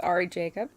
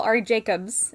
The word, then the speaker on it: Ari Jacob: With Ari Jacob, With Ari Jacob, yes. who I used to call Ari Jacobs, and now I feel, It's Jacob.